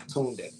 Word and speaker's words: Tunde: So it's TUNDE _ Tunde. Yeah, It's Tunde. Tunde. Yeah, that's how you say it.